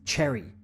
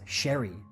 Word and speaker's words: Sherry: pronouncing his name as Cherry CH with a CH sound it's actually pronounced Sherry with an sh sound now North Melbourne put